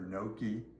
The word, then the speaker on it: gnocchi: So, we pronounce it, but Google translate or other places in the country may pronounce it noi or noki.